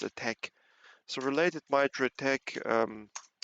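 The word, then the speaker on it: ATT&CK: uh related Mitra uh attack. I think they write it with an end sign, but it's pronounced attack.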